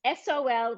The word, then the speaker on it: Sol: in your goal so it's Sol which is like sun yes and but also when